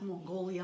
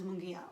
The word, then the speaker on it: Mungia: Anyway, they always mispronounce Mrs. Mungia. They pronounce Mongolia, Mangaya, Miss Teacher, and I'm like, okay, the name is Mungia.